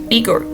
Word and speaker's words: IGOR: And I quote, "Eigore.